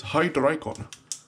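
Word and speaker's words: Hydreigon: a high dragon the the only correct pronunciation of this pokemon is hydricon because it's it's hydra from water dry from german world for three and gun probably from dragon or begun another white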